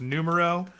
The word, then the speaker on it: Numero: no or I think I'm I might be mispronouncing it it's numero um but um what is